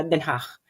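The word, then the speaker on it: Den Haag: non ay denach okay repeat after mehach hindi ke yon ha so imagine niyo kayo ay nag nag nage-expell ng plema in a very very light way once again hach so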